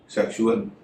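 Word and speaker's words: sexual: कुछ और होता है, जैसे सेक्सुअल, इसमें एस का उच्चारण श हो रहा है, और लग्जरी, जिसमें एस का उच्चारण ज हो रहा है।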